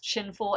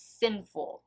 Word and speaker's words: Sinful: shade i mispronounced it i thought it was chin full it's sinful so yeah i don't